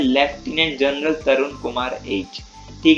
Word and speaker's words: lieutenant: ठीक है, अब इसको क्या कहते हैं, ल्यूटिनेंट कहते हैं बहुत बच्चे, पर वो गलत है। इसको लेफ्टिनेंट कहते हैं, भले इसकी स्पेलिंग LIEUTENANT है, मगर इसको लेफ्टिनेंट कहते हैं।